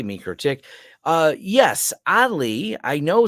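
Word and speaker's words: MikroTik: mro tick videos and they pronounce it like you say mro tick uh yes oddly I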